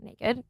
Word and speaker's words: NA-KD: sure how it's pronounced it's na-kd so naked um I think they're